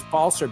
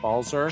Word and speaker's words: Balser: It's Balser, Balser, Balser, not Balzer.